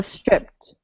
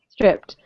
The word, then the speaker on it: stripped: regular past tense verbs the ed is pronounced like a t so stripped stripped but it means uh